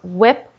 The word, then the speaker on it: whip: also um use cool whip if you'd like okay it's funny rj's asking me is it pronounced whip or whip it's actually you actually say the h first did you know that